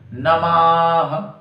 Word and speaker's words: नमः: डंडा और विसर्ग है, इसको कैसे बोलेंगे? नमः, यानी माँ भी पूरा आएगा, फिर पीछे वाली विसर्गों का जो है उसका भी पूर्ण उच्चारण करना पड़ेगा, है ना।